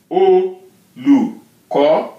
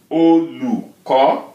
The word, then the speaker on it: Olùkọ́: Olùkọ́. Again, look at that. O with the dot, right? Olùkọ́. Re, do, mi. Olùkọ́.